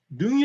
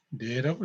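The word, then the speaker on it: 能: 같습니다 그래서 요건은 혹시 능이 라고 나올 수도 있어요 능 이라고 읽으면 안 되고 내라고 해 봐야 됩니다 특이하죠 외워 2시면 좋을것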